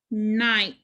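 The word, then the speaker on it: knight: 24 we start off with ghost letter digraph kn the ghost letter is k so cross that out then we have trigraph i g h the i makes the long sound the g and h are silent um i night night that matches our picture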